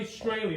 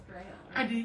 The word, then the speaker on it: Strahle: Strahle. Am I going to get that? Thank you. Not even close. You do butcher the English language. Strahle, yeah. It's Strahle? Strahle.